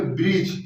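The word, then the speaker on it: bridge: आए, फिर से देखिए, अगर डी के बाद जी आए तो हम डी का उच्चारण नहीं करेंगे, या जी से पहले डी आए तो हम मतलब कि डी का उच्चारण नहीं करेंगे। तो इसे हम शुद्ध बोलेंगे तो बोलेंगे ब्रिज, यानी कि ब्रिज ना, ब्रिज।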